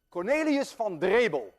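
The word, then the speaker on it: Cornelis van Drebbel: Cornelius van Drebel, and I know how to pronounce that name because I'm Dutch.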